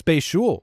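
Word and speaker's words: Bhayshul: We got to be on a first-name basis here with Bayshell. Is that how you say his name? That's the problem. Yeah, is it Bayshul? It's Bayshul. Bayshul?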